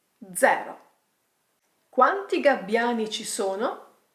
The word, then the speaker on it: zero: Pay attention to the pronunciation. This number is called 0. Not 0. 0.